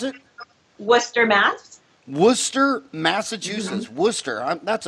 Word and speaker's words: Worcester: Worcester? Worcester. How do you pronounce it? Worcester, Mass.